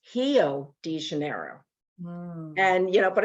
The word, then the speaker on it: Rio de Janeiro: has guttural sounds like in german they don't pronounce ours so like you know it's not rio de janeiro it's hello degenerate and you know but it's spelled rio so